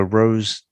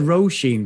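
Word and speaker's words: Róisín: It rhymes with Jolene. So Rosine? Is that how you say it? Yeah, I said Roisin because a friend of mine's got the same name and we pronounce it as Roisin.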